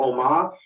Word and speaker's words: Omos: Omos. So Seth Rollins versus Omos. What's going on here, and who's going to win? Well, I think I'm going to go with Omos.